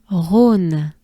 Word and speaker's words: Rhône: Rhône. Just a breath. Aune. Right? And we take a good breath first. Rhône. It's a river. Big river. Rhône.